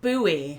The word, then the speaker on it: buoy: of a British homophone we pronounce this just as you would pronounce the word boy as in boy and girl Bowie Bowie that's the way